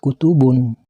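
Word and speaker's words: كتب: Kalimat kutubun, juga kalimat kutubin, bila dihentikan membacanya maka harus dibaca kutub karena menjadi qalqalah kubro.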